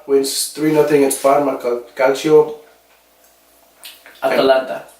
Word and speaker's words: Atalanta: Atalanta. Atlanta. No, Atalanta. Well, my pronunciation, I mean No, because you're saying Atlanta. That's like Atlanta United.